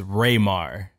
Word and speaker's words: Rai-mahr: So my real name is Rai-mahr, and I decided to go with because